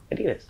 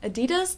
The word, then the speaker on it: Adidas: let's see how they what's the correct correct pronunciation hey have you seen my Adidas shoes your what shoes Adidas um Adidas the brand oh Adidas um Adidas I I